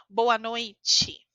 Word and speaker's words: boa noite: escutou aqui certo dia também temos uma pronúncia quando a palavra termina em t e nesse caso a gente fala Ti Ti boa noite chegou no Brasil falou